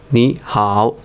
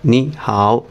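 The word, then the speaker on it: 你好: নি হাও দুইটাই থার্ড কিন্তু এই দুইটা যখন একসাথে বসে অন্য অর্থ প্রকাশ করার জন্য একসাথে বসবে তখন এই নি টা সেকেন্ড টন উচ্চারণিত হবে তাহলে উচ্চারণ কি হবে নি হাও নি হাও খ ফুতাও ফুতাও ফু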